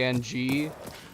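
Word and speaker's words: Aang: That if if you were going to be named a A N G, it probably would regularly be pronounced, but the character and the creators said it's pronounced Ang.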